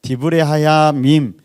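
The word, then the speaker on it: דברי הימים: 드브레 하야밈, 드자가 좀 이렇게 발음이 힘든 것 같아요. 그래 D라고 하는 게 더 나을 것 같아요. 디브레 하야밈.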